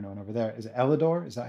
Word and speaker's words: Elidor: Is it Elidor? Is that how you pronounce it?